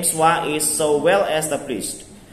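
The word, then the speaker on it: schwa: The swa vowel needs no keyword because the name swa is so well established. But note that the word swa doesn't actually contain the swa vowel.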